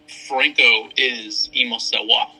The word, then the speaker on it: Francoisemosewa: Explain to the listeners your Instagram name so we can all start pronouncing it correctly. Franco is Mosewa.